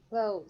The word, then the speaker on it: clothes: Clothes. Some speakers pronounce the TH in clothes.